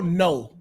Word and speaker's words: know: The K silent, right?